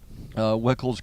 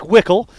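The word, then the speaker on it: Wikle: I was calling it Helena, Montana, but Weichel is spelled W-I-K-L-E, I believe. So it looks like Wickle, and I've corrected myself on Helena and Weichel, but you still can't remember it.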